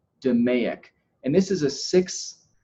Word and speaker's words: DMAIC: is organized by the acronym DMAIC this is pronounced 'da Mayock and this is a Six Sigma term this